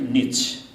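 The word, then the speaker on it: Nietzsche: सन् 1882 मा, अहिले 2021 भए, सन् 1882 मा जर्मन दार्शनिक फ्रिडरिक नीच, उसको स्पेलिङ चाहिँ उच्चारण चाहिँ त्यो रहेछ, स्पेलिङ चाहिँ लामो छ त्यो झन्झट।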